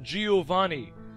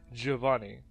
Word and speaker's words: Giovanni: it's it's it's pronounced Giovanni so since then I've always pronounced that name Giovanni but obviously that is Italian and apparently it is pronounced Giovanni which actually makes a